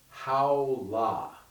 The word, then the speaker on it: Haola: So the first sound I want to share with you will combine with this movement, and it's Haola, H-A-O-L-A, 2-syllable word, or we might say a chant.